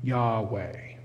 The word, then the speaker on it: Yahweh: And so the most commonly supplied vowels are an A after the Y and an E between the W and H, which usually leads to the pronunciation of Yahweh.